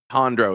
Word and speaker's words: entendre: entendre is how you say it.